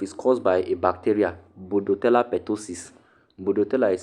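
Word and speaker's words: Bordetella: Bodoella ptosis. Bodoella is spelled B O R D E T E L L A. Budotella. Ella. Ella. If your name is Ella, budella ptosis.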